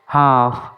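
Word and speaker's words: half: হাফ। এইচ এ এল এফ। এখানেও এল এর উচ্চারণ করা হয় না।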